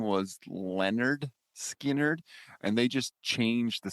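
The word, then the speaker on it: Lynyrd Skynyrd: album august 13 1973 leonard skinner released their debut album literally titled pronounced the nerd skin nerd album includes tuesday's gone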